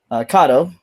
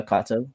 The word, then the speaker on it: Kato: They are Kado or Kato uh depending on your pronunciation. I prefer Kato. It's more authentic, I think.